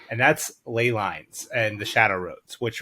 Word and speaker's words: ley lines: our Ley lines and some people will pronounce these Lee lines but I will fight you I think it's Ley lines uh just like um